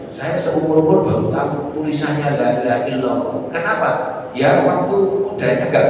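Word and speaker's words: لا إله إلا الله: La-nya panjang, ya. La ilaha ilah, bukan ilaha, ilaha ilah. Artinya yaitu ilah itu yang patut diibadahi, patut disembah. Ya. Ilaha illallah. Ingat itu, ilah. Illallah. La ilaha illallah.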